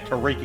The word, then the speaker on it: Tariq: the sector oh right I thought saying T terona yeah Tariq is his name Tariq okay I've been saying it wrong then yeah I would